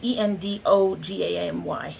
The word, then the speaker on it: endogamy: we mentioned the I I keep hoping I pronounce it correctly the uh indigami and and ogami it's e-n-d-o-g-a-m-y so it's um endogamy I will butcher for